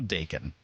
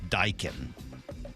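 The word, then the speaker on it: Daikin: It's also Dacon. D A I K I N. They're a huge HVAC company, I guess. Although somebody is saying it's Dykin, but other people are saying Dacon, but nobody's saying Daikon.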